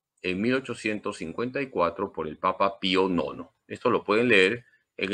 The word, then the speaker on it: Pío Nono: el dogma de la inmaculada Concepción el papa Pío Nono así se pronuncia acuérdense de los bizcochos Pío Nono El